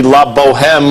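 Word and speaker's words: La Bohème: I can go see La Boheme like 6-7 times this week. I mean, you don't pronounce the H, darling.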